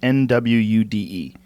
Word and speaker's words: Nwude: It's an N, but the pronunciation's a little bit different.